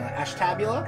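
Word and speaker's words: Ashtabula: turner ohio hour east of cleveland ash tabula ash tabula is how you pronounce that weed what's up my dude miles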